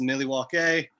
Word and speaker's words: Milwaukee: alice cooper and he tells him it's actually pronounced millie walk a and uh it means uh the good land